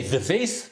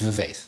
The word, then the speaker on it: Vivace: I don't know if I pronounced this correctly, but I don't think it's Vivace. So I'll just say Vivace because it rhymes with face.